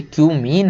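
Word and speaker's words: cumene: Give the equations of the reactions for the preparation of phenol from क्यूमीन। क्यूमीन से हमें आपको equation बताना केवल कि क्यूमीन से, इसको कुछ और मत पढ़ लेना भाई, ये क्यूमीन है।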